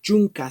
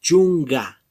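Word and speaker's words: chunka: Pero al momento de pronunciar, la K se cambia por la G. Ya no decimos chunca, sino decimos chunga. No sé si pueden distinguir la pronunciación. Es con la G. Ya no, como les digo, no se pronuncia chunca, sino se pronuncia chunga, chunga.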